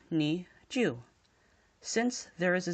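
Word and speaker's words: 二十: this introduces rule 0 roll 0 dictates that if a number is present if a 0 is present in a number it should be ignored completely thus we will have the pronunciation of nee Jew since there is a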